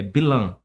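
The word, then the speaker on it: Bilam: todo terão a gente não existe pronúncia ão no hebraico é bilan bilá bilan ele tinha uma coisa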